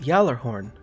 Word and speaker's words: Gjallarhorn: No, you're not mistaken, and it is pronounced Gjallarhorn, my son.